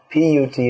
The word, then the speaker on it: put: As Srila Prabhupada pointed out, you'll find in English B-U-T is pronounced but, P-U-T is pronounced put.